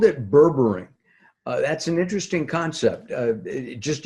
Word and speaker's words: berberine: is called Berber yet Berber e-naught or bring berberine berberine ayan spell it BER BER ine burring burring gotcha and